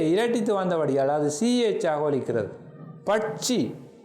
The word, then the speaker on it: பட்சி: பட்சி சிஹெச், முயற்சி சிஹெச் இவ்வாறு ஒலிக்கிறது.